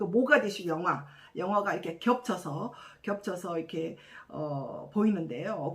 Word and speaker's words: 모가디슈: 모가디슈, 아프리카의 뿔이라는 아주 멋진 닉네임을 가진 이 도시 이름인데요. 이 아랍어로는 무가디슈인데 2차 세계대전 때 영국군들이 이제 점령함으로써 이제 영어식 발음인 모가디슈로 이렇게 이제 이름이 정해졌다고 합니다.